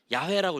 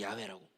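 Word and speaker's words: 야훼: 말하며 그래서 우리 순봉 우리는 여호와를 여호와라고 읽지 않습니다 오늘도 우리가 읽을 때 어떻게 읽었습니까 야외라고 읽죠 야외라고 우리는 더 온 발음이랑 가까운 그 단어를 따라 읽고 있습니다 여러분 이렇게 하나님의 이름은요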